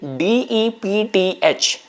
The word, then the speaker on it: depth: When I say D-E-P-T-H, depth, it somehow strangely sounds like a death.